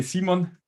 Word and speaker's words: Simon: And today we have an interview with Zeon, right? Did I pronounce your name correctly? Zeon, that's fine. And how do you actually pronounce it? Um, well, in German, uh, you would say Simon also I think in